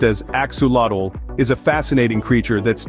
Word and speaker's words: axolotl: it a lizard let's find out the axel pronounced as axadle is a fascinating creature that's neither a fish